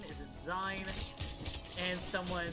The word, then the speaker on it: zine: be pronounced is it gene is it zion and someone said it should be pronounced seen because it's short for magazines yeah wait you didn't